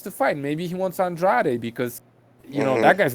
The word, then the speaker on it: Andrade: Okay, yeah, Andrade. Like Andrade, the- please. Andrade. Say it correctly.